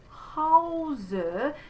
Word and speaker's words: Hause: So there's the closed O, wohl, closed E, denen, die, in, not in, but in, deinem Hause. So that diphthong is au, ha, nice and tall there, Hause, wohnen.